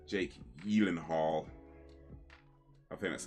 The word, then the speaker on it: Gyllenhaal: Jake Gyllenhaal. I think that's how it's properly pronounced.